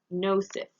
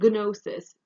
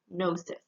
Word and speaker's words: gnosis: our root focus is gnosis gnosis again this is a greek word so the g is silent it's just um gnosis you need that g